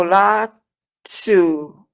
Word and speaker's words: Lao Tzu: Lao Tzu, that's how you pronounce his name, has the Tao Ting Ching, the Tao, T-A-O.